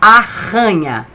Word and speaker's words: arranha: palavra, que nem, ó, arranha, né? A sílaba ra tá no meio. Arranha. A gente tem que botar 2 R's para ele ter esse som forte, senão fica aranha.